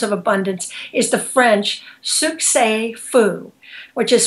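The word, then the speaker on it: succès fou: um in terms of abundance is the French Suk Fu which is spelled s u c CES and then a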